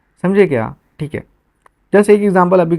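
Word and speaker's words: هذا: ये हाजा, ये जो है ना, this is representing that we have to extend हा ऐसा उसको प्रोनाउंस करना है, ठीक है, ठीक है।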